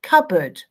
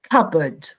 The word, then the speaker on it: cupboard: cup cupboard i say cupboard so when i say the word you cannot hear the p the p is silent cupboard cupboard kitchen cupboard bathroom